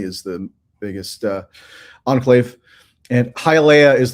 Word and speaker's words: Hialeah: It was in Hialeah, Florida. Hialeah, Florida. I made sure I got that pronunciation down because it's not totally straightforward.